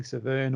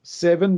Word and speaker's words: Severn: the secrets of hunting severn or seven depending on how you like to pronounce it um i know that